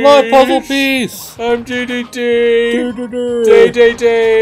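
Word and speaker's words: Dedede: Day-day-day is how it's pronounced in Japanese, but Americans say DDD because that's how it looks like that's how it literally looks.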